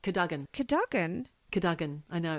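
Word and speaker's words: Cadogan: California not in California in the bedroom in kogan place buried under a pile Kagen kogen Kagan it's pronounced Kagan Kagan Kagan I know it's spelled kogan but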